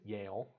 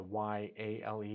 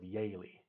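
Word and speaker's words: Yehle: a Swiss name um and for us we pronounce it Yale um but it's not the y-a-l-e it's y-e-h-l-e but it used to be spelled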